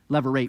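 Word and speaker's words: levirate: give laws regulating a leverite marriage leverate marriage that's how you say it um but not commanding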